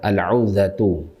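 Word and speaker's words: العوذة: Wahiyal 'audzah, 'audzah, al-'audzatu. Ainnya di dhammah ya, wawunya disukun.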